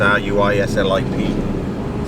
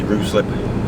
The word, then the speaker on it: Ruislip: And I've got to go around to Ruslip, or Ruislip, or however you pronounce it, R-U-I-S-L-I-P. Some people say Ruslip, some people say Ruislip.